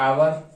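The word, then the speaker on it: hour: अब आप देखेंगे, जैसे हमने अभी आपको बताया 1 घंटा, 1 घंटा, तो आपको यहां दिख रहा है घंटा की अंग्रेजी होती है आवर, तो इसको आवर पढ़ते हैं तो एन आवर लगेगा।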